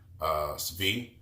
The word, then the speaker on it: Svi: We traded Stanley Johnson away for Thon Maker and Svi. That's how you say his name. You got to say it kind of quick.